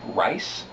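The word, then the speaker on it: Ryse: We start out with a game called Rise, Son of Rome from Crytek. Rise? I don't know. R-Y-S-E, it's spelled.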